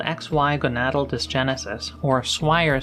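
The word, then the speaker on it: Swyer: If a person has something called XY gonatal disgenesis or swire syndrome, spelled funny but it rhymes with buyer, their gonads, instead of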